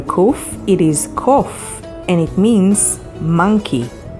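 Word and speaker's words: קוף: It is kof, and it means monkey. It's spelled with Kuf, Vav, Pe sofit.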